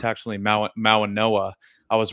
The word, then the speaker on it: Mauigoa: it's not really an N, it's like an NG.